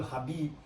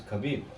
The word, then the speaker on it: Khabib: yeah, but Americans call Habib. But it's Khabib, no? It's Khabib, actually.